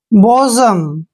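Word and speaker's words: bosom: clear next word देखिए बी ओ एस ओ एम बी का उच्चारण ब करेंगे ओ को ओ पढ़ेंगे एस का उच्चारण ज करेंगे जब भी एस से पहले ओ आता है तो एस का उच्चारण ज करते हैं और ओ एम का उच्चारण म करेंगे बजम क्या पढ़ेंगे इसको बजम बजम होता है प्यारा प्रिय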